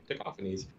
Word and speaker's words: Tacofangs: Taco Face or Taco Fangs, but really it's pronounced Tacophanes.